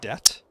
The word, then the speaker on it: debt: is um for example the word det apparently the word death d-e-b-t is spelled with a b because the people who decided to to keep that word spelled with a b um wanted to reference a friend the french word for dead or something like that and so that's literally why we have there's a b in the word debt it's